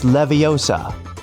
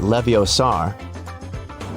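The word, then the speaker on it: Leviosa: help sometimes hey Siri it's levosa not Levar measure app is a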